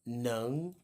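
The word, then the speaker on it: 能: This character is pronounced neng, which means can, in terms of possibility.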